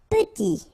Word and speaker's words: petit: Petit. Okay, remember to pronounce this E like a E. Petit. Final T not pronounced. Petit.